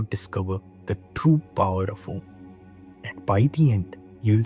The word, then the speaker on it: Om: The word Om consists of three syllables, that is A, O, M.